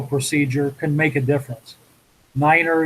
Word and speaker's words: niner: can make a difference niner you know it's nine uh tree for three five for five this